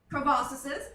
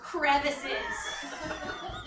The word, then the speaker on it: crevices: Crevasses. Next. And then it's so much Objection, easier. it's not pronounced crevasses, it's pronounced crevices.